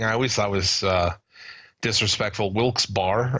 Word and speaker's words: Wilkes-Barre: Wilkes-Barre or Wilkes-Barre. I'm not sure how they pronounce their name. I've always pronounced it Wilkes-Barre. They get fucked all the time. Of course, you pronounced it Wilkes-Barre. Bear.